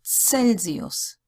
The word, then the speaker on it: Celsius: If it's before an E, an I, or an A umlaut, it's pronounced as ts. So Celsius, Cent, City, Caesar.